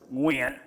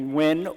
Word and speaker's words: Nguyen: my name is Nguyen but in Vietnamese it's actually pronounced when very difficult for people to say especially in America so growing up people started call me win or win and it